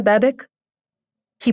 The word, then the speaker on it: Babich: He stops a few feet away and asks, "Are you Hanna Babic?" He pronounces her last name wrong, ending it with a hard K the way most Americans do. "Babich." She corrects quietly, doing her best to hide what remains of her accent.